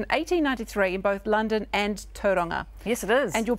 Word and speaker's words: Tauranga: But interesting that you say Tauranga, because that's how they used to pronounce it then, and then we went into Tauranga. Now we've gone back to Tauranga.